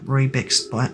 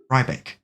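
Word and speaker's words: Riebeck: Day 48, still not picking up Rebeck's banjo from Brittle Hollow. I'm sure they're fine. Did I say Rebeck? I changed the pronunciation. Rybeck.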